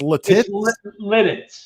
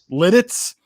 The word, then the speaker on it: Lititz: I think it's pronounced Lititz. Lidditz.